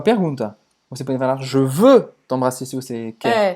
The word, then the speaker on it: veux: Je veux t'embrasser.